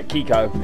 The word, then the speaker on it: Kiko: Kiko is how you pronounce his name.